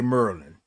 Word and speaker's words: Maryland: Black Diamond said, "Baltimore, Maryland." Black Diamond, you know, I got a friend that's from Maryland, right? from Merlin. And that's how they say Merlin.